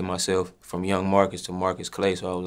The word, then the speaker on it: Marqus Clae: the correct way to pronounce your stage name marcus clay do people mispronounce this absolutely do people misspell it absolutely what do you notice people do more both is equal they either say marcus clee mark was clay or don't even know how to pronounce that